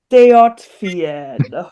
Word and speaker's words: Dejot vien: But obviously talking about those styles, I could definitely see the influences with your song Deart Vienn. Did I pronounce that right? Deaten.